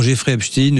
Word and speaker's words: Jeffrey Epstein: Les secrets de la filière française nous évoquant le portrait de Jean-Luc Brunet, agent de mannequin rabatteur pour Jeffreystein, je le prononce à l'anglaise, à l'américaine et lui-même violeur.